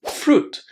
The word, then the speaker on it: fruit: We don't pronounce the letter I in this word. So it's fruit.